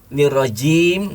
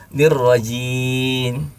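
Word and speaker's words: الرجيم: Lupa bahwa di ujung itu ada huruf mim yang harus menutup bibir. Nirrajim. Bibir harus terkatup. Dia lepas nirrajim. Entah kemana mimnya hilang. Kalau mimnya tidak diucapkan sempurna berarti dia membuang satu huruf.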